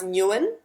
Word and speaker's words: Nguyen: It's actually pronounced Nguyen. Nguyen. Nguyen, yeah. So it's think I Dee was the Nguyen. So the closest. G is sort of silent. So Jake was the most wrong because he said win.